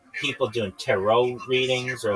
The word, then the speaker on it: tarot: But this one I'm sure of it's tarot. It's not ter. Nobody calls it tarot cards.